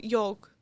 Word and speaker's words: yolk: needs the filling because you add stuff to the yolk to make the deviled Oh, eggs. did you just pronounce the L?